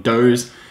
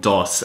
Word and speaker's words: Doss: were basically a replica I called them Do's uh that was like pronouncing it like Bose anyway nevertheless this company is a legitimate company called Doss and well they offered